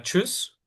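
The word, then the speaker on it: Tschüss: Em, aquí tenemos la palabra chus, ¿no? Para manera de despedirse yen. Chus se escribe con el diéresis en la u que se pronuncia u, entonces, o sea, y el s se pronuncia como sh.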